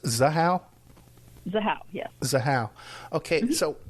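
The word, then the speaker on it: Zahau: uh so this um uh Rebecca and it's pronounced zaha zaha yes zaha okay so what would be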